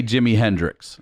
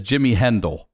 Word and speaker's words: Jimi Hendrix: oh yeah a little bit he can't say jimi hendrix he can't he says jimmy hendell that's how he pronounced that okay by the way deaf people